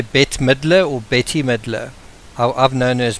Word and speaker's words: Bette: small little fragment, is Betty Marcoux. Her name is spelt B-E-T-T-E. I would be inclined to say Bet. I don't know if that is probably wrong, but again, it's one of those things.